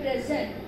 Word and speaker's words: present: So likewise the word present, so we are considering it as a present noun. So here same we have two syllabic word, we have two syllables and we are going to stress syllable number one.